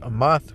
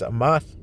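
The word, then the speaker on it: אמת: Okay, so I want to get that word truth, which means in the Hebrew it's pronounced amath, which here it says imeth, but in the Paleo Hebrew it's amath, and it says firmness,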